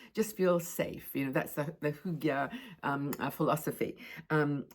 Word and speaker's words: Hygge: Because the next thing is getting cozy with Hygge or Hygge. I think in Sweden it's called Hygge, and I pronounce it Hygge.